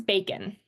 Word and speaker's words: bacon: So if I say this like a robot, I say it bacon. Okay. I don't say bacon. I say bacon. And that O there sounds like the I sound.